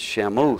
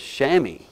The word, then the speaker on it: chamois: the word looks like to me it's Shamus c-h-a-m-o-s the proper pronunciation for the word is chamois that's right just like you wipe your car with when you dry it so um the loan